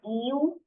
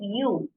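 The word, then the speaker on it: ewe: pronunciation of this word it's not EU it's youu okay you so masculine for you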